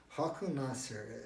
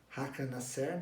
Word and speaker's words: Håkan Nesser: gênero, que é o Håkan Nasser, eu creio que se pronuncia assim em sueco, que é ele em